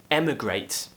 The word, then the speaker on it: emigrate: now the next one you might think they're pronounced the same but actually they are different emigrate and immigrate at the beginning like an elliot